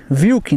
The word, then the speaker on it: Wike: Wike Vilk, né? No caso, ele falou ali, ó. Pronuncia o W com um V.